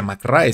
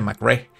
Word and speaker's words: McRae: mcre y se escribe mcrae pero no se pronuncia mcray se pronuncia mcre Entonces al pronunciarse mcre el el epíteto se